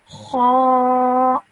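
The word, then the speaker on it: خاء: This one is kha. So when I say it, my mouth is rounded and I'm producing a thick and heavy sound.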